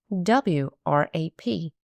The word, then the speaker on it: wrap: When you see WR, the W is silent. Don't say it.